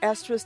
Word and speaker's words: Estra: Block Talk Radio and Estra's TV, currently featured on YouTube under Estra's blog. Make sure not to be diverted to another link. My official website is ESTRA, pronounced Estra.